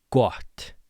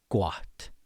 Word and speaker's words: gott: So o without any accents, you're going to make your mouth start kind of small like in the open o shape in the sound and you're going to open your mouth so it's oua not o so it's not goat or got but gott. Oua oua oua. You open up your mouth as you say the o.